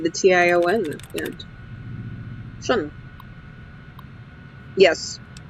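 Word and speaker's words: -tion: Shun. Yes. It's pronounced shun. In that syllable.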